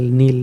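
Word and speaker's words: kneel: रखो बाकी हटा दो नील और डबल किया एन डबल आई के साइलेंट है के और डबल आई प्लस ल नील नील का मतलब घुटने टेक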